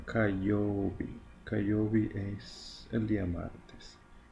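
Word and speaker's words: 火曜日: Y se pronuncia kayobi.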